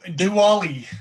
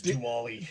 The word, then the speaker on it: Dually: Yeah, so Dually is what how they're trying to pronounce it is Dually.